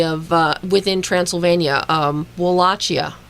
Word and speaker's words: Wallachia: uh within Transylvania um wallachia I think is how it's pronounced but we find out